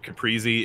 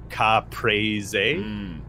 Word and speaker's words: caprese: a caprese caprese eat I've heard people call it caprese it's not that's not how it's pronounced in like Italian I think in Italian the cadence is like cop praise a when I order that